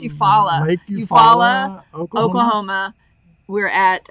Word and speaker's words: Eufaula: Yeah, I do, because I don't know how to pronounce it. I think it's Eufaula.